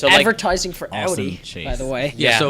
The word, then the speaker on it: Audi: to my friend David it's pronounced Audi not Audie all right we'll make